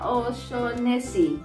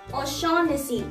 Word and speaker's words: O'Shaughnessy: Oshonesi. Oh my God. Oshonesi. Oshonesi. No. O'Shaughnessy.